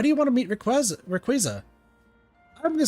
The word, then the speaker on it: Rayquaza: Why do you want to meet Rayquaza? I'm going to say Rayquaza. I think people could also pronounce it Rayquaza, but I'm going to say Quaza.